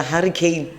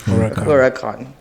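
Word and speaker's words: Huracán: There's a Porsche 911 Turbo, Lamborghini, how do you say, is it a Hurricane? Oh, it's Huracan.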